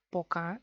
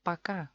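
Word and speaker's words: пока: Poca es eso como es oficialmente. Tiene que ser poca. Pero los rusos lo pronuncian paca, porque O es mucho esfuerzo. A es mucho más fácil.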